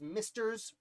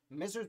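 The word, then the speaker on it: Messrs: and company m-e-s-s-r-s period i think it's misters but i think you pronounce it misers but misters also and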